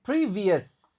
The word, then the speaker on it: previous: Oke, previous. Nah, ini E-nya dibaca I. Previous. Ou-nya enggak dibaca.